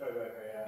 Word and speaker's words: Tribeca: It's Tribeca, yeah.